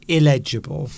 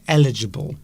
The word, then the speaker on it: eligible: But a lot of people get that word confused and say that they are illegible. Yes. They mispronounce it. And they should be saying eligible.